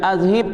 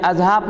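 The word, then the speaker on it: أَذْهِبْ: Baca azhib tu bukan azhab nah.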